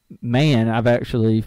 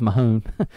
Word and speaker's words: Mahon: spot, fighting Amini, is undrafted free agent Brendan Mann. We've learned it is how it's pronounced. I thought it was Mahone.